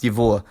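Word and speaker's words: его: Something important to know about this pronoun is that despite its spelling, it's pronounced yivo, with a v, not a g.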